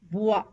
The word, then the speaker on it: bois: OI is pronounced as wa, wa, as in foi, bois.